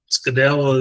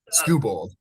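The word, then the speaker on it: Skubal: make the playoffs and uh you know, uh Scadel is Scadel, is that how you say his name? Scooball.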